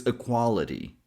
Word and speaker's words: equality: It's actually a flap t sound. The same t sound we hear in water and butter. Then y sounds like e as in c or tree. So the last syllable is so it's equality equality.